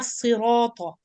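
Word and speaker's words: صراط: So if you're able to pronounce the ta with lam qamariya in the previous ayah, you will be able to do the same thing here. Sirata, heavy, tal. So from heavy ta into light lam.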